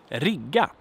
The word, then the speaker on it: rigga: But then we have the verb rigga, which means to rig. It's a loan from English, so to rig. Rigga. Short vowel, long consonant.